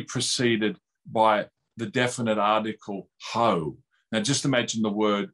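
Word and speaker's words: ὁ: greek it's normally preceded by the definite article ho now just imagine the word in english h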